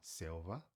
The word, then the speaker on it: selva: A escrita é a mesma, só a fonética é diferente pelo fato que escreve se escreve com V, tá? que nem eu falei o som do V é o mesmo do B, então por isso que a gente fala selva, tá?